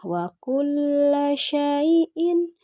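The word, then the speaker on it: وَكُلَّ شَيْءٍ: Di ayat 29 ada la-nya bertasydid ya. Jadi dibacanya wa kulla syai'in gitu.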